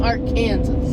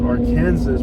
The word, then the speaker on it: Arkansas: right it was arkansas no you were calling it art kansas you were calling it our kansas i was calling arkansas no you weren't you were arguing that it was arkansas because that's how it's spelled and the others don't